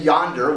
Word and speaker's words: yonder: When we say yonder, we don't say yonder, right?